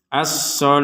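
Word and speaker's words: الصلاة: asalati kita membacanya berurusan asal huruf tanya kita baca sebagai huruf Ha kenapa karena kita berh berhenti asah wasah dibaca sebagai huruf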